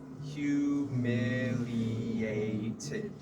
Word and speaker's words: humiliated: Very hard to pronounce. I would say slow. Humiliated. Humiliate. Yeah, humiliated.